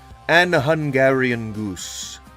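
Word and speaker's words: AnHungarianGoose: It is An Hungarian Goose. ANHUNGARIAN GOOSE. And the G is pronounced like a normal G.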